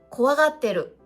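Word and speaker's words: 怖がってる: 怖がってる、お花見に行きたがってましたというようにいを取って発音することもありますから注意が必要です。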